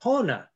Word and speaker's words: pona: to okay good H pona is the word for good okay can you say that pona P accent is always on the first syllable of a word and so this uh